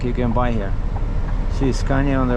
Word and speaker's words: Scania: Well, you say Scanya, right? Scanya. We say Scanya. Scanya, right? Scanya. Yeah. Scanya. Some say Scanya.